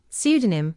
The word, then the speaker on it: pseudonym: The letter P is silent in words such as psychic, psychiatry, pneumatic, receipt, pseudonym, and psychology. The letter B is silent